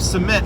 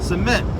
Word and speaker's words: cement: So for example, cement is a noun. You stress the first syllable. But if you use it as a verb, cement, he's going to cement his legacy. Cement, you stress the second syllable.